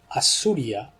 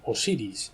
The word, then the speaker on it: Osiris: significa el sol pero assuria de hecho fue el Antiguo nombre de Osiris no lo pronunciaban Osiris sino que le llamaban as suria el sol Los hindús